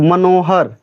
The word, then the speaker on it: मनोहर: जब लास्ट का जब अक्षर हम बोलेंगे तो मनोहर, तो र जो है कंप्लीट नहीं बोल पा रहे हैं। जैसे मनोहर, र जो है ये पूरा कंप्लीट नहीं हो रहा है, साइलेंट हो जा रहा है।